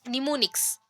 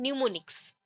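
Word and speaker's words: mnemonics: में भी निमोनिक्स बोलेंगे, बट प्रोनाउंसिएशन निमोनिक्स नहीं है। यहाँ पे आपको लिखा गया है ऐसा, बट प्रोनाउंसिएशन होता है न्यूमोनिक्स। न्यू, NEW वाला न्यू, ठीक है। न्यूमोनिक्स, प्रोनाउंसिएशन न्यूमोनिक्स है, बट हम लोग बोलते हैं यहाँ पे स्पेलिंग के अकॉर्डिंग निमोनिक्स, ठीक है।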